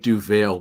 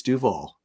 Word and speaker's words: Duvall: Sale was Adam du Duvall I enjoyed watching him you you were about to say like duil weren't you before you quick corrected yourself at the last minute it is Duvall right it's Duvall oh do oh man